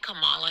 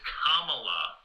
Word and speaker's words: Kamala: You know, like Camala Harris. Uh what? Say your name again. Camala. No, no, no. It's Kamala. Try it.